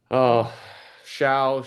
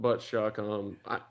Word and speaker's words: Shough: What's the worst pronunciation of Shough you've heard? Shough, Shough, Shough. I mean, it should be all those things, but Shough.